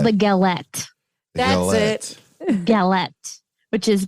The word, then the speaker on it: galette: Actually, I think they would pronounce it with galet. Probably. Because they don't pronounce the T.